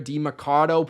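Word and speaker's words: Demercado: DeMarcado played last year.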